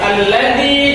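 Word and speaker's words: الَّذِي: 2 Oke lanjut lanjutnya alladzi Nah itu hukumnya Mad Thobi'i dipanjangkan 2 harokat alladzi jadi membacanya harus dipanjangkan tidak boleh alladzi Zi atas panjang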